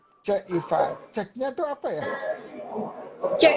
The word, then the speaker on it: Cekifa: Saya bacanya Cekifa. Salah ya? Ceifa. Ceifa. Cek Iva.